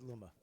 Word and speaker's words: Luma: how it's pronounced. It's not. It's Luma.